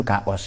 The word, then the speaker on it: chaos: Tapi cara baca kita chaos. Sebenarnya dalam bahasa yang benar, bahasa Latin itu kaos ya.